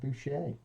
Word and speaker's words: Bouchier: And based on that little segue, I have got with me today Warren Bouchier. Is that That's the correct one. Is that how Yes. you pronounce it?